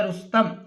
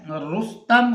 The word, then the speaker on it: رستم: سے ہے وہ ہے رستم۔ تو رے کے اوپر پیش رس ہو جائے گا اور سین کے اوپر جزم لگا دیں گے اور تے کے اوپر زبر لگائیں گے۔ تو عزیز طلبہ ہمارا